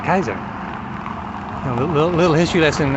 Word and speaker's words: Kaiser: You know, probably that dude from Germany, Kaiser Wilhelm. Yeah, Kaiser Wilhelm. Kaiser means king, or Caesar, Kaiser. And you say, the way you say Caesar is with the K, Kaiser.